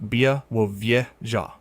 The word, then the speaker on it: Białowieża: Pronounced Biaowieza. Białowieża is one of the last fragments of the primeval forest that once covered the whole of lowland Europe.